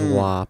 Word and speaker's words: WAP: It has okay. to rhyme with mop, right? So it is WAP.